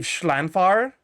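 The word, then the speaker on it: Llanfair: This is pronounced, I believe, Schlanfar.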